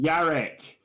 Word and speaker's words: Jarek: J with a Y.